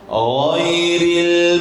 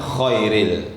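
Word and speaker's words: غير: Ya, jangan khairil tapi ghairil. Sambungan di atasnya ya. Itu sama juga tempatnya. Ghain dengan kha dia di atas, dekat dengan anak lidah.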